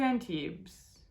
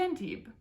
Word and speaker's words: Antibes: When we got to Antibes, it's not, you don't pronounce the S because it's French. When we got to Antibes, we started by, it